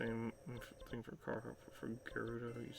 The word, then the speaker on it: Gerudo: But Gerudo, I used to pronounce the G with a J sound for Gerudo until literally Breath of the Wild, when I actually heard it pronounced as Gerudo.